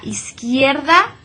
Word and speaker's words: izquierda: remind you is that whenever you see the queue and the you together that you is always going to be silent do not pronounce that you okay a la izquierda there look how I just went right over that you that one's not pronounced in this case beside